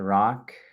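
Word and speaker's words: Rak: Rock. That is spelled R-A-K, pronounced R-O-C-K.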